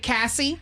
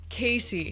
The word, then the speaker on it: Casey: We have, am I saying it right, Cassie? Casey. Casey. But the spelling is confusing.